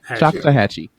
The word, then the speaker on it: Choctawhatchee: Chahhatche.